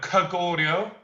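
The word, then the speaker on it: Goguryeo: The 3 kingdoms of Korea, apart from the Silla dynasty, the other 2 I can't pronounce. Can you? Kogoryo. Kogoryo. Kogoryo. No, Kogoryo.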